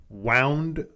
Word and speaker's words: wound: ropes tied to them which uh wound I guess that's supposed to be wound over the axles yeah but it looks I want to say wound because it's spelled the same uh learning English is